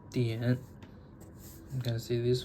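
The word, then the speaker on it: 点: It's pronounced dian.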